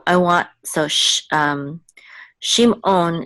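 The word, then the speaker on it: שמעון: want so sh um Shimon is a little bit different in ancient Biblical Hebrew the is not just um silent it's actually gutural and it's like a klling on sound from Star Trek so it's okay shim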